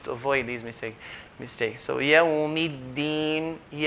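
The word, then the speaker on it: يَوْمِ الدِّينِ: So yawmiddin, make sure the deen part is not pronounced in between fatha and kasra. So it's not yawmiddin, fatha, kasra, in between.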